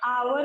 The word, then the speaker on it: hour: और HOUR, आवर मतलब घंटा।